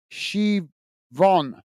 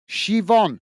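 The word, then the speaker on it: Siobhan: uh Rosie saying uh s Sion uh is pronounced shiv Von all right well thank you for that Rosie I didn't know that shivon uh that's strange well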